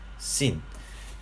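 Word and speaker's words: שׂין: 이게 래쉬다라고 하는 것이고, 이거는 R 발음으로 표기를 하시면 되겠습니다. 그 다음에 이게 쉰, 신이라고 하는 두 글자인데요. 자, 쉰, 신.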